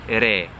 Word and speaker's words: re: Re.